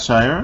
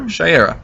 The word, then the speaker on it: Shayera: Oh, so here comes Carter Hall Carter Hall and Shayera Hall, who are How do you pronounce Hawkman. that, Shire? Shayera.